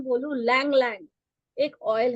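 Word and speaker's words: ylang-ylang: किसी को high blood pressure है तो उसका ब्लड प्रेशर लो करने के लिए हम Lang Lang, YLANG, Y silent है, लैंग लैंग यूज करते हैं हम ऑयल।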